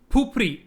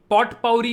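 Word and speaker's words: potpourri: फुफरी, पॉट पाउरी नहीं बोलते, 28th वन is pronounced as फुफरी.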